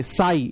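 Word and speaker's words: psi: कि सर ये देखिए साई इसको बोलते हैं प्रोनाउंसड एज साई ठीक है पीएसआई पी साइलेंट कर देते हैं साई ये देखिएगा साई क्या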